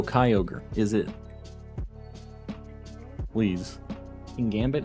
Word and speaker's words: Kyogre: half odds yet um I always thought it was pronounced Kyogre yo gray g-r-e gray so Kyogre is it please in